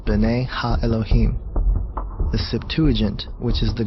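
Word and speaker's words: בְּנֵי הָאֱלֹהִים: of God mentioned here in the Hebrew is pronounced Bena Elohim the Septuagint which is the Greek translation of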